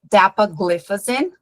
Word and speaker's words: dapagliflozin: Essa medicação também, eu já ouvi ela ser pronunciada assim de maneiras bem diferentes. So, dapagliflozin, gliflozin, mas não estranhe se vocês ouvirem a tonicidade dessa palavra também é um pouco diferente disso, tá?